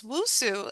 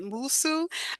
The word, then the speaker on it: Nwosu: It's Wusu, and I think my father-in-law would pronounce it Musu.